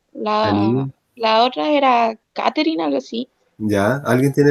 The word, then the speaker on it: Catherine: En español nosotros decimos Catherine, así con T, pero en inglés se pronuncia eh, como el sonido de thank you, con la lengua entre medio de los dientes, y después soplo. Thank you.